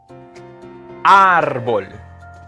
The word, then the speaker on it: árbol: Árbol. You see that accent mark on top of the A? That'll be árbol. It's not on the O, it's on the A. So it's not árbol, it's árbol.